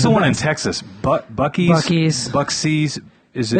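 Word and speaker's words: Buc-ee's: Bucksies? Is it? It's Bucky's. Bucky's? I don't know how to pronounce it.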